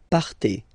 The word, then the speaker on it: partez: Okay, then for vous, classic ending for vous as well, EZ, but then you pronounce it et. Vous partez.